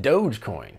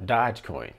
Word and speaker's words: Dogecoin: you know was pronounced dogecoin and not dodgecoin as in dodge truck i've been pronouncing it